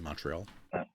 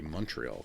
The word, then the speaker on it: Montreal: In Montreal.